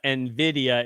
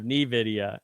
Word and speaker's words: Nvidia: day one can we make sure to pronounce Nidia Nvidia instead of Nidia yeah well good luck